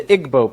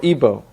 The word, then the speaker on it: Igbo: Another area in Africa you have uh something big happening is in Nigeria you have the Igbo people or Ibo pronounced either way.